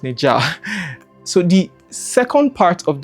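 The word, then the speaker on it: Nezha: There's this recent animation called Neza. I think it's pronounced Neja.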